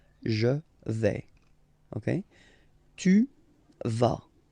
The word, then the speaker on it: tu vas: Okay, tu vas. Same thing here, final S not pronounced.